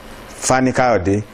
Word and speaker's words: Fani-Kayode: Precisely, we are having David Oluwafemi Adewumi Abdulateef Fani-Kayode as a newsmaker this evening.